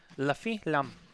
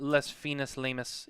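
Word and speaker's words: Les Fines Lames: La fin lam. That's how you say it. La fin lam. All right, not les finis lamus. It's la fin lam.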